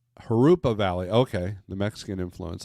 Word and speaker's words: Jurupa: The J in California is pronounced like a H. Jurupa Valley.